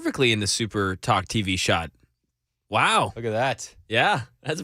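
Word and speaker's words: Wu: loves the holidays who actually it's pronounced woo mayor Michelle woo out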